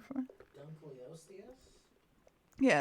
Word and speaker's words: Dunkleosteus: Dunkleosteus? Yeah, it's like Dunk Leo and then stewardess at the end. Like that. That's how it's pronounced.